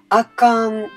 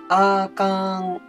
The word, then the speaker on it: あかん: ここで関西弁の発音講座ですけれども、あかんは全部同じです。あかん、全部同